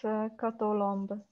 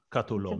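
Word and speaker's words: Kató Lomb: I know Lindy Botas can pronounce it properly, and also Reka can also pronounce it properly, Kato Lom. But yeah, it's Kato Lomb. Kato Lomb. It's a bit longer O.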